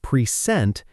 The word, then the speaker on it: present: When the stress moves to the second syllable, pre-sent, it becomes a verb.